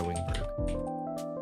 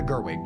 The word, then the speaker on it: Gerwig: me double check uh pretty sure it was Greta wiberg um let me see rby film oh Greta Gerwig my bad I I was pronouncing their name wrong Greta Gerwig um I